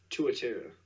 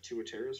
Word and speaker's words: tuatara: Tuatara.